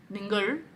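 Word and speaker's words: നിങ്ങൾ: Number 3, ningal. A lot of people mispronounce it at first. Ningal is correct.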